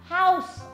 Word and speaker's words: house: Tại vì mẹ đọc là how thiếu âm sờ, thế nên là nó lại thành cái câu như thế nào rồi ý. Chứ không phải là từ ngôi nhà nữa. Bây giờ mẹ phải đọc là house thì mới đúng như hướng dẫn đúng không?